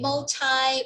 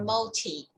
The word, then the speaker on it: multilingual: Multilingual. Right, so it could be multi or multi. Say multi.